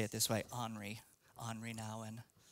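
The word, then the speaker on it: Nouwen: one of my favorite authors Henry Nan appropriately pronounced I love to say it this way hry hry Nan says this community is a fellowship of people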